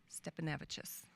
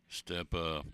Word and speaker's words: Stepanavicius: Stepanavicis. Stepanavicius. We'll do this phonetically. Vicious. That's how we learn it. Yep. Stepanavich. Stepanavicius. You leave an S on it. It takes practice.